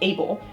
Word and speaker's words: ABL: Quoting Thompson in amongst this is the action behavior language ABL pronounced Able which encodes not just